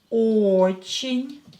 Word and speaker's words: Очень: Очень. Ударение на O. O is stressed, so ye will be pronounced as E because it's not stressed.